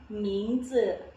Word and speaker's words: 名字: Oke, kemarin kan kita sudah belajar huruf Z, itu letak lidahnya di antara gigi atas dan gigi bawah z. Jadi 名字.